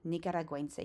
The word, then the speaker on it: Nicaragüense: Nicaragüense. You're going to notice there's two dots over the U. That's called a dieresis, and it makes a gwuh sound.